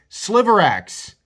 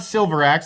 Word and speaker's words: Sliverax: This is the Spyderco Sliverax, not Silverax. I keep wanting to call it the Silverax. It's not the Silverax. It's the Sliverax.